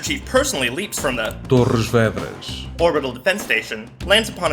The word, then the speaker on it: Torres Vedras: Wait, how do you pronounce that? Torres Vedras. What? Torres Vedras. Oh, and people mispronounce Cairo. The Master Chief personally leaps from the Torres Vedras orbital defense station, lands upon an invading Covenant